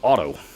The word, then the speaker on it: Otto: So it's hence the name Otto, except they spell it O-T-T-O instead of A-U-T-O.